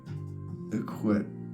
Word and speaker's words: الكويت: All right, officially the state of Kuwait. It's pronounced Iqwit.